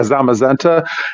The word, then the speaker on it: Zamazenta: Is it called Zamazenta? Is that how you pronounce it? I think it's like Zamazenta or something like that. Yeah, Zamazenta. And I got those certificates.